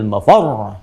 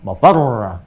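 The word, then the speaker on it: مَفَرّ: insanu yawma idzin ainal mafar. Mafar ada tasdidnya tuh. Ya, ainal mafar. Ada tasdidnya, makanya bacanya juga bukan mafar.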